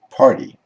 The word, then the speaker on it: party: Similarly, party is pronounced party.